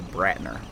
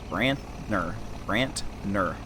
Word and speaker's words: Brantner: It's a Brantner. Brantner. N instead of H, that thing.